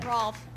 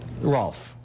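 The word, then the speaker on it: Rohlfs: Rolf. Rolf. Gee, it's spelled a strange way. Spell it for me. R-O-H-L-F-S. Rolf. Right. Sure, everybody knows R-O-H-L-F-S spells Rolf.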